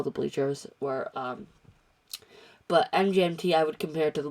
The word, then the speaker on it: MGMT: might think it's pronounced management but no they've stated specifically that it is that you say it mgmt not management so mgmt is kind of uh